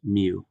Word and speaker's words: mu: so this is the Greek letter and it's pronounced mu okay and then this one here is also